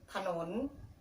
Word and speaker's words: ขนุน: เสียง ค่ะ อย่าง น่า ครับ ที่ ผม ขนน อ่อน ว่า ขนน เรา จะ ออก เสียง ขาด